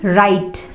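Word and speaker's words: write: आ रहा है, तो वहां पे W साइलेंट होगा। इसको हम क्या पढ़ेंगे? राइट। राइट नहीं पढ़ेंगे, इसको हम राइट पढ़ते हैं, राइट। यहाँ पे W साइलेंट है, यहाँ भी W साइलेंट है। रिस्ट, wrong, ring, rest, rap etcetera. तो किसी भी स्पेलिंग में अगर W आ रहा है उसके तुरंत बाद R आ रहा है और WR स्पेलिंग की स्टार्टिंग में है तो वहां पे आप W को प्रोनाउंस नहीं करोगे।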